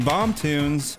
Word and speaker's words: BomToons: Is it BomToons? Is that how you say it? I was going to ask you that. Yeah, that sounds good. Is it not? I mean, that's how I've always said it.